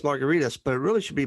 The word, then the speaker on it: Margaritis: my email address is at last name is m-a-r-g-a-r-i-t-i-s dot com it's pronounced margaritas but it really should be margaritas but that's too much like hepatitis and gingivitis so there's no fun